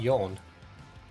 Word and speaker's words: Jan: Is your name Jan or Yan? Cuz I used to work with a guy called Yonyi, but it was spelled with a J. He was Swedish or Danish. Oh, I I'm glad you enjoyed yourself, Anica. It's good to get away, P. More like yawn. Yawn. Y. What's the phonetic to that?